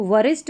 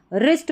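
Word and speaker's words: wrist: The night, night वही योद्धा, noticed अ, अब WR जब भी साथ में रहेगा ना तो उसमें W साइलेंट रहेगा, इसको वरिष्ठ नहीं रिस्ट पढ़ेंगे, रिस्ट।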